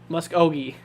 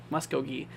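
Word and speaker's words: Muskogee: the main goal here mus oi yeah that's how you say it musi you don't really say musk oi or muskog it's mus oi right I think that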